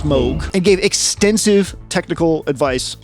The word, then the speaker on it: Moog: with Moog uh the Moog the Moog it's pronounced Moog and gave extensive technical advice on what became